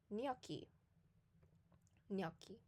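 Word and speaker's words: gnocchi: a while and think so it's GN which is so it would be and then the c c I would be key because it's a hard C because there's an H so this food is called noi noi the next tip is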